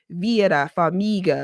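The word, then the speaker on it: Vera Farmiga: because actually, you know, it's very specific is like V. I can't roll my Rs, but it's like Vira Famiga because no one ever pronounces her name right. She said she always I I remember her saying to say Vera like she's a um waitress.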